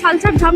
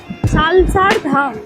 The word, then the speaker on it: সালাসার ধাম: যে প্রত্যেক শনিবারে আমাকে সালসার ধাম নিয়ে যাচ্ছে। আগে উচ্চারণটা করো ঠিক করে। সালসার ধাম। একদমই নয়, সালাসার ধাম। হ্যাঁ, সালাসার ধাম।